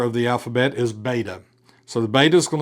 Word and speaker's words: beta: And the pronunciation of beta is like our modern B. It's a B, as in boy or bus or bat.